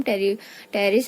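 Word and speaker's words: Pteris: पी जो है वो साइलेंट है, सो टेरिडियम, टेरिस and other fern, जो फर्न्स है they are having मैक्रोफिलस type of leaves.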